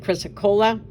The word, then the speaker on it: chrysocolla: Is Milpillis, and is how you pronounce it, chrysocolla.